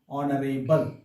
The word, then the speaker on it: honorable: using article n because h is silent here and again the vowel sound is there and we are pronouncing this word like honorable but the exception is